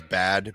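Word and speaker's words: Bhad: Apparently her name is Bad, B-H-A-D, baby. Yeah, they spell it with like a BH or whatever.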